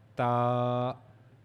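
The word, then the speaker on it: ت: For ta, we have to pronounce it. We have to use the tip of the tongue. Use tip of the tongue, and we have to connect the tip of the tongue to the upper incisors, the gum of the upper incisors.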